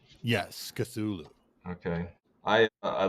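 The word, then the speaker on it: Cthulhu: the girl of cthulu is that how you pronounce that cthulu yes cthulu okay I I like the story of minky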